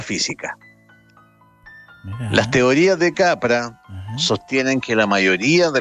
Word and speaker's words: Capra: Fritjof Capra. Se escribe, su primer nombre se escribe Fritjof. Y bueno, el apellido es como el director de cine Frank Capra.